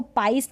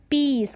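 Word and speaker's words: piece: का मतलब भतीजी नीस फिर इसको पाइस नहीं पढ़ेंगे पीस क्या पढ़ेंगे पीस तो इसका अपना कॉमिनेशन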